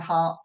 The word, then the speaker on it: Hardt: that we've got Tina Hart with us have I pronounced your name correctly Tina absolutely it's that Germanic DT that always throws everyone off right right and we're